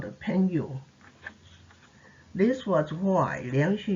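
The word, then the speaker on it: 朋友: is a translation of a chinese term pronounced pengo strictly speaking it is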